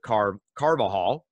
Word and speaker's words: Carvajal: the intentional encourager podcast i stumbled just a tad but i wanted to make sure i pronounced your last name right because you have an unusual last name it's spelled c-a-r-v-a-j a-l so that that j can trip you up how are you today